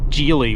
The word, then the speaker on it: Geely: fully owned by geely I probably pronounced geely wrong I I think it's geely with a soft G so this is a